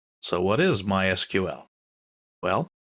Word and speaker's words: MySQL: so what is MySQL well it's a version of SQL we'll talk about that in a minute people in the know don't say MySQL they say my SQL that's generally how it's pronounced in SQL is usually